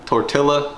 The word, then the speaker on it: tortilla: Tortilla, tortilla, say it right guys, tortilla.